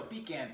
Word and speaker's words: pecan: pecan pies right here, I guess you call pecan pies or pecan pies. Depending on, I guess, what part of the country you're in. But us Cajun people call it pecans down here. Any pronunciation that you want to say is fine, but no matter how